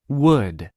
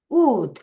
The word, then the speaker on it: would: would would L 소리 안 나요.